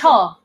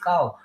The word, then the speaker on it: Kyaw: How do you pronounce it? Cho. Cho. Okay, I always Yes. call it cow.